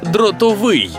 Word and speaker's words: дротовий: то правильно казати саме дротовий дротовий дротовий дротовий чи дротовий дротовий дротовий дротовий тактак у слові дротовий наголос на останній склад О ну ладно добре